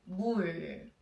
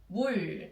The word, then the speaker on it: 물: The water in Korean, we say 물, 물. So what should we do now? We should find the consonant first. M sound, M sound. Yes, right, the M sound first. And then we have 물, 물.